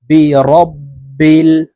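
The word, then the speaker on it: بِرَبِّ: থাকি কুল আউজু আউ আইন কে আমরা হামজার উচ্চারণ করে থাকি আউজু বলে থাকি তারপরে বিরাব্বিল ফালাক বলে থাকি বিরাব এখানে হবে রব তো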